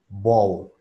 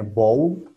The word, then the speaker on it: bowl: Acuérdense que la L es gorda en inglés. Oh, bow. Bow. ¿Ok? Entonces, así se pronuncia. Bow. Bow. Y de ahí viene como tal la pronunciación de Super Bowl. bowl.